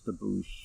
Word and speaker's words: debouch: Yeah, they do pronounce it as debouche. Okay. In the OED.